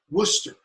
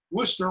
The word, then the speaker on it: Worcester: If you pronounce it in modern English, Worcester. You don't say Worcester, okay? The middle CES is elided out.